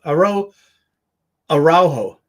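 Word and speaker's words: Araújo: Aro Ajo. That's how you say it.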